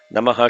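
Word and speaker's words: नमः: Many people put a swaritam on Namaha. Urdhvaya Namaha. They chant like that. You should not chant the Namaha with a swaritam. Namaha should be flat.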